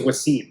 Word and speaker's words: Wassim: like my name is Wasim and Windsor because a lot of type of panics your name is easier than fatality yeah I guess yeah yeah my teeth was it's two syllables right yeah it should be